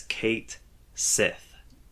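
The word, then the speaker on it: Cait Sith: in game and this is how players should pronounce it as Kate Sith yeah yeah and that has upset some longtime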